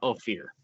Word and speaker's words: Ophir: the kingdom of ophir o p h i r maybe I'm saying that wrong but that's how I'm pronouncing it this is what Chrome says it is now oh fear one of these days